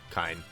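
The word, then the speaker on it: Kain: By the way, is the proper pronunciation, is it Kane or Kine? Kine. Okay. That's the proper pronunciation. A bunch of people get mad at me for saying that, but that is indeed the proper way to say it.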